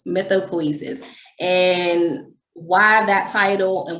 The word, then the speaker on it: mythopoesis: So you do pronounce the E. Hmm? I wasn't pronouncing the E. Okay. Say it one more time, please. Mythopoesis. Mythopoesis.